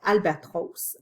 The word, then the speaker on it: albatros: J'ai bien prononcé Albatros.